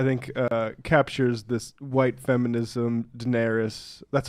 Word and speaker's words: Daenerys: So we've got a mashup that sort of, I think, captures this white feminism, Daenerys. That's how you pronounce the name, right?